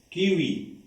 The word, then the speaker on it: kiwi: Alors, on enlève le I, on garde OU, c'est la lettre W.